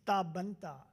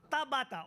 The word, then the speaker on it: Tabata: We have two persons with disabilities from Japan in this room, Professor Inoue and Miss Tabanta. Am I pronouncing the name right? Nearly. Could you correct me then? Tabata, okay.